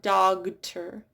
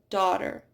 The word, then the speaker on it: daughter: It's not dogter, it's daughter. It's not liked, it's light.